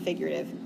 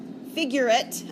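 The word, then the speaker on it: figurate: one it's called figurative figurative not figurative figure it i'm going to add extra syllables today figure it numbers these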